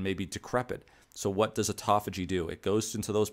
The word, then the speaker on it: autophagy: And all of this is to say is that it enhances something called autophagy. And it looks like auto autophagy, but it's actually pronounced autophagy.